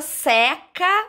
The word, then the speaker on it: seca: ele né seca agora se eu usar essa palavra como uma ação um verbo eu vou ter que ir pronunciar com som aberto a blusa seca no varal então a blusa está lá secando é uma ação é um verbo então agora a palavra